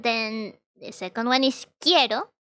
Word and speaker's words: quiero: they when this happens the u is not pronounced the u has no